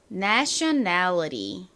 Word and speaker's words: nationality: 미국식 발음에서는 이 T 발음을 원래 발음인 t이 아니라 리을로 발음을 하는 경우가 많다라고 말씀드렸습니다. 그래서 nationality 이라고 발음될 수도 있지만 nationality 이렇게 리처럼 발음이 날 수도 있습니다.